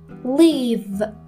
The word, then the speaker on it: leave: حواستون باشه که live به معنی زندگی کردن یک کوتاه داره، ولی leave رو باید بکشید. اگر این دوتا اشتباه تلفظ بکنید ممکنه به کلی معنای جملتون عوض بشه.